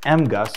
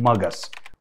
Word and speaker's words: MGUS: We call it MGUS, some people even call it MUGUS. Whatever your preference is, let's make sure you understand this today.